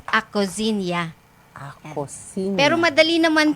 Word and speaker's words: Acozinha: Acozinha po, H-A-H. Pero ang pronunciation po ng products namin is Acozinia.